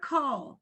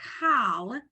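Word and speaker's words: כל: here we go so the word coal whoops I have to write it didn't give me my writing thing okay the word call this is a lamid sorry is pronounced like that uh it is said like that so even though it's it it looks like the word cowl it's cold you wouldn't know that unless I unless I um unless you're told that there's no like rule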